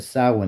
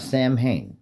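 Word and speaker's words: Samhain: the sin edition. Now, I do explain it to this because I'm mindful not everybody knows the language we speak. Now, it's pronounced sin, not Sam Hayne.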